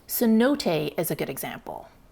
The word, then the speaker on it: cenote: The Mayan word for these sinkholes is this, which I believe is pronounced zanot. But the Spanish had a lot of difficulties with the z sound, so they decided to simplify it to cenote.